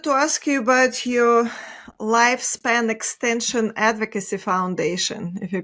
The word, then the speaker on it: Lyfspn: So I'm a co-founder of a company called Lifespan, and it's spelled LYFSPN.